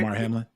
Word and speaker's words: Damar Hamlin: Damar Hamlin.